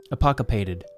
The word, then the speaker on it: apocopated: Apocopated. Thank you to the dictionary for your help in pronunciation.